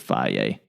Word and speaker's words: Fage: I usually eat Flaw, Fage. That's how you pronounce it, Flaw.